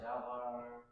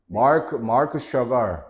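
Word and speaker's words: Marc Chagall: 마크 샤갈이야, 샤갈. 샤발 플랜티드 어디가 L자가 보여 지금? 네? 글씨가 너무 작아서 그런가? 다시 키워줄까? 다시 해봐. 맥체인 마크 샤갈.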